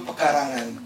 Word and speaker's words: pekarangan: this afternoon is my opportunity to introduce you pekarangan eh perhs some of you very to pronounce pekarangan not pekarangan pekarangan So this is